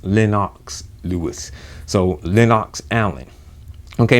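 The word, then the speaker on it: Lennox: uh lenox island okay i learned how to pronounce linox it's not linux linux lewis he was on there you know saying how to pronounce his own name it's lenox lewis so linox allen okay now at first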